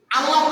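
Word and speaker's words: الله: তাহলে আল্লাহ তাআলার নামের এই যে শব্দটা সঠিক উচ্চারণ হচ্ছে কি? আল্লাহ। আমাদের মুখটা একটু গোলাকার হয়ে আসবে, একটু কি হয়ে আসবে? গোলাকার।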